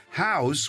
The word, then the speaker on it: Houzz: you might be using house which is spelled Hou Z Z just announced a data